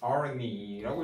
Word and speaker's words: János Arany: The Greek Hungarian poet János Arany라고 읽어요. 그죠? 제2자가 보통 Y 발음이니까 was born in Salonta in 1817.